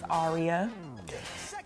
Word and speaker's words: Aria: to tell me um yes her name is arya a-r-i-a um yeah and i know my mom she like mispronounces it she says aria no or she